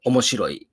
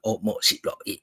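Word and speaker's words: 面白い: And in Japanese, it'll be omoshiroi. So it's like omoshiroi. It's like that. 5 syllables there.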